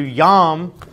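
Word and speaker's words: ים: Well, I just showed you yam, which is how you say sea, the sea, in Hebrew, is also a name for a Canaanite god.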